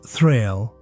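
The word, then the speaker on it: þræll: Known in old Norse as thrill, pronounced thrill.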